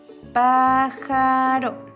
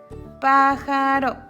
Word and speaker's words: pájaro: S, pájaro. Está entre dos vocales, pájaro.